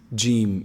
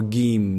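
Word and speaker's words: جيم: gene it's very easy gene make sure you avoid saying gene gene many people say g m-- or game no its gene gene ok the middle of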